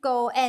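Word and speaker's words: 五円: The pronunciation of 5 circles, Go-En, is just like the English word Go- En in Japanese . Marriage has the same pronunciation, so I put in 5 yuan .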